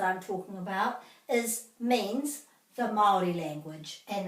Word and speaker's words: Māori: Māori. Te reo Māori. And Māori has a macron over the A, so that means this is extended.